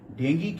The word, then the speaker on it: डेंगी: आज आपसे डेंगू बीमारी के विषय में बात करूंगा, जिसका सही उच्चारण डेंगी होता है।